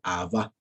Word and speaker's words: Abba: Dicho sea de paso también entre paréntesis, no se dice Abba, sino se dice Abba, ¿no? Se dice Abba, ¿vale? Con acento en la última, ¿sí?